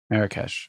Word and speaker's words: Marrakesh: Marrakesh.